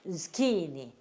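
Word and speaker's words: zucchini: 그 다음에 걔네들이 H를 발음을 안 해요. 걔네들이 써놓고 발음 안 하는 게 더러더러 있다 그랬죠. 묵음. 예, 발음 안 해. 우리 따라서 안 해. 그 다음에 I가 E, N이 니은, I가 E 이렇게 돼요. 그래서 뭐라고 읽어요? 스키니 이렇게 있습니다.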